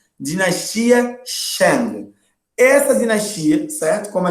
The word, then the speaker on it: Shang: Então, anota aí no seu caderno e se liga na pronúncia. Dinastia Shang.